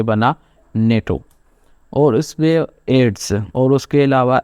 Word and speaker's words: NATO: तो जैसे एग्जांपल्स को देख लेते हैं, नेटो। तो ये जो वर्ड है इसको हम जो है वो प्रोनाउंस एक ही झटके में कर रहे हैं, नेटो। तो हम इसको NATO जैसे प्रोनाउंस नहीं कर रहे हैं।